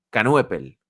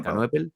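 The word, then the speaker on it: Knueppel: Duke, a ver si lo pronuncio bien, con Canuepel. ¿Cómo se pronuncia, Tony? Canopel.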